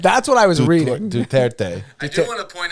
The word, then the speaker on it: Duterte: so did oh dude it's not duarte it's deterred how do you pronounce the name duterte duterte duterte yeah there we go i always thought it